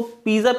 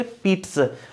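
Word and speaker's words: pizza: तो ध्यान रखना, हम इसको पिज्जा बोलते हैं, जबकि इसका प्रोनाउंसिएशन, सही प्रोनाउंसिएशन, करेक्ट प्रोनाउंसिएशन है this one इज the correct pronunciation. Okay, पीट्स।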